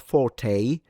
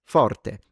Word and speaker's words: forte: So even in in the composer's note, it's not forte, it's forte.